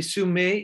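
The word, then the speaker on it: Sumeg: And he says that there is no hard G sound in Yurok.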